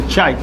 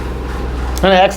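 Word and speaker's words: chi: य चाई कहते हैं इसका उच्चारण होता है सी एच आई चाई एक्स नहीं है चाई जहां ये चाई कहलाता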